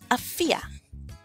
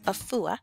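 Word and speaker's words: Afia: a fear all right now this says a fool some say a fool but most often you'll see it as a fear all right and so let me show you here okay Effie was for short okay Effie for Friday born but most often it's a fear I fear I fear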